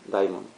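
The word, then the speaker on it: daimon: Sí, Diamond. Acá va una tilde, pero bueno, se no se pronuncia, no se pronuncia da, sino que se pronuncia diamond.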